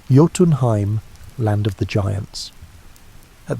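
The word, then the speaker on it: Jotunheim: The second route stretched down into Yotenheim, pronounced Yotenheim, land of the giants.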